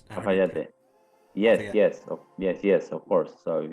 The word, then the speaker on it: Cafayate: And is it pronounced Cafayate? Cafayate.